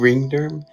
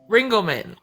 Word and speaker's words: Ringleman: Ringderm? Ringelman. Ringelman? Like Ringle Dingle, but Ringelman.